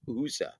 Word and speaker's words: Hysa: Nelson's pronounced USA.